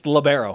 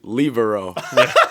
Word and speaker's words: libero: I do yeah and it's labero we determined that last time you were on the show the proper pronunciation our Italian stat guys claims that the libero libero word started in Italy so it's actually libero yeah so I don't